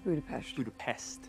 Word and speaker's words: Budapest: Mason, Clint gibi İngilizce halini kullanmayı tercih ederken It's Budapest.